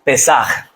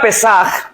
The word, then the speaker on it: Pesaj: La palabra Pesaj o un poquito más fuerte en la pronunciación, Pesaj, no sé cómo se pronuncia, pero nos habla de la Pascua.